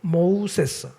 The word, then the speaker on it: 모세: 그러니까 애굽식 발음은 뭡니까? 모우세스예요. 모우세스. 그런데 이걸 갖다가 히브리인의 발음으로 하면 모세가 되는 거예요.